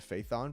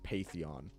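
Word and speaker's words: Phaethon: dynamic duo that runs under the proxy name faithon so I I I literally had to change it to Faith on because I saw everyone pronounce it faithon uh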